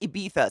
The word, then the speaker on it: Ibiza: why I know that song is it it's pronounced Ibiza so that's the literal that's so white people